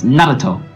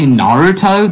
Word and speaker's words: Naruto: If you want to say Naruto, that is fully acceptable. Naruto is the most commonly known one.